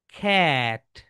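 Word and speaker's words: cat: এর সাউন্ডস হচ্ছে খা। খা। সো আমরা সবাই এটাকে কি বলি বলতো my dear soldiers? ক্যাট। ক্যাট। কিন্তু এটার রাইট প্রোনাউন্সিয়েশন ইজ ক্যাট। কি বলতো? ক্যাট। খ্যাট। কারণ কি বলতো? এটা কিন্তু খা সাউন্ড। দেখো এটা হচ্ছে একটা খা সাউন্ড।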